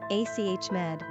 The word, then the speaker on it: Ahmad: Pronunciation, Ahmed.